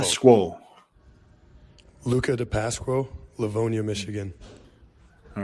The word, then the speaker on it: DePasquo: We need to listen to this name properly so everyone knows how to pronounce Luca's last name. Luca DePasquo, Livonia, Michigan. DePasquo. Remember that, DePasquo.